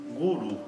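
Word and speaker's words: गुरु: Guru é fácil para a gente pronunciar, por quê? Porque a semivogal ra está aparecendo entre duas vogais, e então tem o mesmo som que o nosso R de arara.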